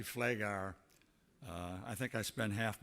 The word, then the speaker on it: Pfleghaar: people understand my name I was introduced as fleiger and that's close to my name it's actually Flay gar I think I spent